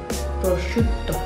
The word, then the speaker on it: prosciutto: Prosciutto. Prosciutto. Prosciutto. Double T. Prosciutto. Yeah.